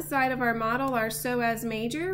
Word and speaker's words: psoas: Moving down, we can see on one side of our model our psoas major. Remember that's spelled with a silent P.